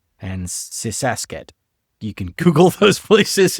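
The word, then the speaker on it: Sisaket: And Sysak I think you mispronounced that. Ubani Uban Ratchetani and Sisaset.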